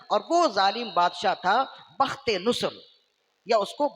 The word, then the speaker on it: بخت نصر: مقرر ہو گیا، اور وہ ظالم بادشاہ تھا بخت نصر، یا اس کو بخت النصر بھی کہتے ہیں. یہ اس کے تلفظ میں سے ہے، آپ آسانی کے لیے بخت نصر ہی سمجھ لی.